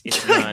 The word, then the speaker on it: Yeun: and is like, Steven, you're actually been pronouncing my last name wrong this whole time. It's Yeun.